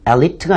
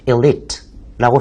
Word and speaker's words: elite: 영어로는 elite가 아니고요. elite입니다. 첫 단어가 E 발음이 나요. I 발음. 그래서 elite라고 쓰시면 되겠고요.